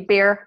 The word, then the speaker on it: Bayer: That would be Bayer aspirin. That's Okay. a chemicals company over there. Okay. And pronounced Bayer.